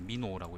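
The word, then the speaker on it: 美濃: 예, 요 지역이 이제 민홍이고, 일본어는 이제 미노라고 읽고요.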